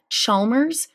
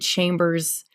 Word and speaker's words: Chalmers: to really quick correct it's brooke chalmers not i think i said chambers i'm not sure but